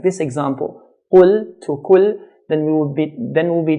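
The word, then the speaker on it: قُلْ: Qaf, when we pronounce it in a heavy manner, as in qul, qul means say. If we pronounce qaf in a light manner to make it sound like a kaf, kul, kul, this changes the meaning from say to eat.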